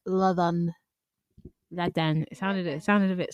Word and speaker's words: Ladan: I'm used to people mispronouncing my name. Most people call me Ladan, but I think somewhere for posterity, I want my name to be pronounced correctly. It's Ladan.